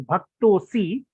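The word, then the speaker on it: भक्तोऽसि: to to to to be pronounced as bhakto C but it's actually made up of the word bhaktaha means a devotee and Asi means you are referring to Arjuna May means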